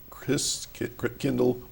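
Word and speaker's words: Christkindl: saying Christmas Market but I'm trying to say it right for you guys Chris Kindle Market it took me three years to get that Chris kle markers okay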